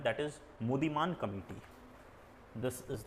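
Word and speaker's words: Muddiman: अब लिखिए एक कमिटी का नाम है, that is मुदीमान committee, this is the spelling, MUDDIEMAN, मुदीमान committee.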